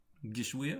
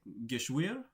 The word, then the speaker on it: Geschwür: Geschwür? I think that was the better pronunciation. It's got like an upward inflection to it. It's like Geschwür.